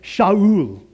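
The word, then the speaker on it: שאול: If you heard that in Hebrew, you would never recognize it. It's like Shaul. And I didn't say it right. I just butchered it right there. But that's how it sounds.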